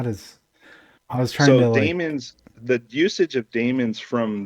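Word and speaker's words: daemon: and apparently it's pron it is still pronounced demon even though it's Dae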